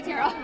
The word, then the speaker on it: Terrell: No, you can say Terrell. Terrell rhymes with Cheryl.